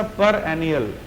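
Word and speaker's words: perennial: अच्छा, पर एनियल, जो मैंने कहा इसी तरह इसको प्रोनाउंस कीजिए, पर PER और ENNIAL।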